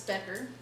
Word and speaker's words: Becker: So in case you need help, you bet your ass it's Becker, not Bachelor or anything else.